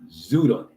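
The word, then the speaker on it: Xweda: The name Ouidah is derived from the local name Zuda, spelled X-W-E-D-A, pronounced Zuda, Zaida, in the Zaida Giba language, which, and then we go here, and it says, here's more detailed breakdown.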